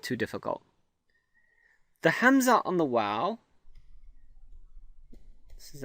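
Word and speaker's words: همزة: is our second letter, is basically a hamza sound. And we discussed the hamza earlier. The hamza, and this is the hamza here, is what we call the glottal stop, is a glottal stop.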